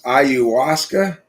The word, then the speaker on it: ayahuasca: going on the pronouns it's iuwaska ayahuasca okay i'll pronounce it like that do our brains